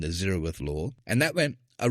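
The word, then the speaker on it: zeroth: it was called the zerowith law like the word zero and with a th on the end the zerith law and that went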